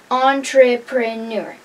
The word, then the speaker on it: entrepreneur: Today's word is entrepreneur. Four syllables. Entrepreneur.